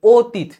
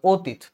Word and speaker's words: অতীত: কিরকম ইম্পর্টেন্ট সেটা বলেছি অতীত দেখ এর উচ্চারণ ও এর মত হবে কার পরকার আছে এবং তিথ ত এর অস্বীকার হবে আর লাস্ট হবে অতীত ঠিক আছে গেল এখানে